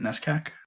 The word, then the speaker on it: NESCAC: On the trivium side, is it NESCAC? Is that how you say it? NESCAC? Yeah. Who's a NESCAC founder that you would love to see involved in Trivium somehow?